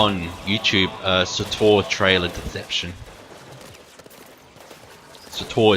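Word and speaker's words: SWTOR: Sator is spelled S-W-T-O-R for Star Wars The Old Republic, because that's what the MMO is called.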